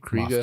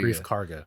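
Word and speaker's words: Greef Karga: Moff Kriega. Gideon. No, Oh, Kriega. Grief Karga.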